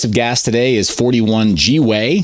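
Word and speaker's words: gwei: is 41 g way thank you box mining for pronouncing it that way i can't seem to say it any other way after i heard michael goo from box mining call it g-way now i'm like i'm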